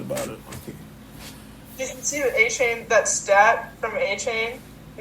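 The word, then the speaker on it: Achane: 434 maybe and then a chain 432 you pronounced his name right I did a chain yay so proud thank you thank you I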